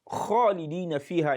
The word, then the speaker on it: khalidina: to recite khalidina fiha, the word khalidina fiha in the Quran, the first letter of that word khalidin is letter kho, kho. And when you now pronounce it as khalidina fiha, that is kof.